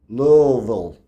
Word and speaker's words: Louisville: Apparently, you pronounce Louisville. Well, Louisville.